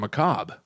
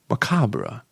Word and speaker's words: macabre: this is happening now you really pronounce the R in McCobb macabre like candelabra well no I wouldn't